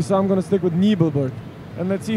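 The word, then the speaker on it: Nebelburg: So it was Nibel or Nebelberg? Nebelberg. Nebel. You're voting Germans for Nibel? pronounce it Exactly. Nebel. Okay, so I'm gonna stick with Nibelberg.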